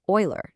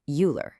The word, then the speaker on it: Euler: It's pronounced Oiler, not Uler.